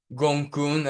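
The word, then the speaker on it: Gonggong: Pisces in itself is also host to a trans-Neptunian object called Gongkun, and it's spelled Gongong.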